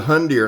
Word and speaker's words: Hundr: This is the Hundr, and I'll spell it for you again, H-U-N-D-R Campax.